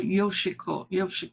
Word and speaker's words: Yoshiko: Yeah, so if I were in Japan, I think I would be called Yoshiko, on the accent more in the first syllable.